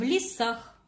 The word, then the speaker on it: лесах: Например, в лесах записываем в с предлогом. Предлог возьмем в скобочки. Лесах. Звукобуквенный разбор. Начинаем разбор с постановки ударения. Зовем слово в лесах. Ударение падает на А.